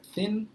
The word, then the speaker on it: thin: eh fat gordo e Thin é Thin aquela língua presa entre os dentes não precisa ter vergonha é diferente para a gente a pronúncia né não tem isso no português mas é falar dess dessa forma fora do Brasil Thin é magro Rich